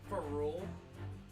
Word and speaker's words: ferrule: No, you had it right when you said feral.